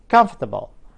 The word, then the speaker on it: comfortable: فأنا هنطقها وأقول comfortable.